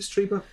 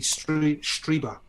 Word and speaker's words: Strieber: I think you said to me it was Strieber because it's German, isn't it? I'm just following German pronunciation rules. I-E is pronounced E.